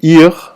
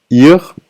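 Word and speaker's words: עיר: And ir, spelled with an ein here, ir, which is not pronounced, ein, yod, resh, ir. You don't pronounce the ein.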